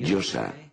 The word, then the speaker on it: Yose: La yo, la a, que se pronuncia así, Yosa.